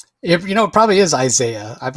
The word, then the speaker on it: Isaiah: You know, it probably is Isaiah. I've always said Izzia, but you're right. It probably is Isaiah.